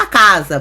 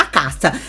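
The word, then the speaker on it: Al-Aqsa: caça ou a casa eu falo a casa por causa da da do tipo de pronúncia aramaica mas eu já vi pessoas pronunciar a caça mas a casa a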